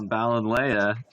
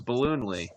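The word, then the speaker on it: Ballonlea: Yeah, unfortunately, I'm on the Balinleia division, as Jeff has informed me it's pronounced. My dyslexic ass thought there was an extra O in there and thought it was Balloonly.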